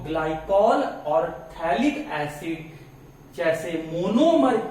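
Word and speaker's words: phthalic acid: थैलिक एसिड, थैलिक एसिड, सही pronounce कीजिएगा। बहुत लोग इसको पता है क्या पढ़ देते हैं, पचक थैलिक एसिड पढ़ देते हैं। तो ये पचक थैलिक एसिड आप लोग मत पढ़ दीजिएगा, इसको आप पढ़िएगा थैलिक एसिड। ये पीएच साइलेंट रहता है।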